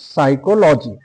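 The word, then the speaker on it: psychology: তো দেখে নাও যে যদি পি থাকে আর যদি পরে যদি এস থাকে তাহলে জানবে পি এর উচ্চারণ হবে না।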